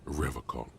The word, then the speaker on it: Revachol: He pronounces Revachol with a hard K, unlike other people. I like to pronounce it the hard way, the old way, the Vespertine way.